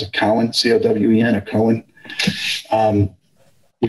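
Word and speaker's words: Cowen: which is now i think they say they pronounce it collin c-o-w-e-n or cohen um he called them up and we hired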